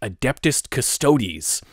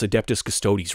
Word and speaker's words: Adeptus Custodes: woke nowadays grifter dude couldn't even pronounce adeptus custodes right but it's really terrible